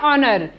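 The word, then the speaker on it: honour: उच्चारण नहीं करेंगे जैसे इसका एक अन्य उदाहरण है ओनर हा ओ एन ओ यू आर यहां पर भी हा साइलेंट है तुरंत बाद हा का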